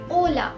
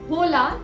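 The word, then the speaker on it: hola: Spanish language में H silent होता है। आचे। ओला, तो वर्ड ओला में एच साइलेंट है, तभी हम उसे होला नहीं बुलाते, उसे हम ओला बुलाते हैं।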